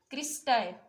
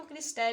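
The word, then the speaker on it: cristae: Infoldings को हम कहते हैं क्रिस्टाई। आप इसको क्रिस्टाई भी प्रोनाउंस कर सकते हैं और क्रिस्टी भी।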